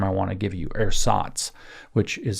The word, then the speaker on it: Ersatz: Ersatz, which is spelled E R S A T Z.